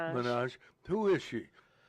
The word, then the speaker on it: Minaj: Nicki, how do you pronounce Nicki Minaj? Minaj.